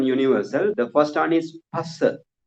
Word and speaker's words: Phassa: The first one is Phassa. Phassa. P-H-A, not Pha. It is Pa, right? Pa.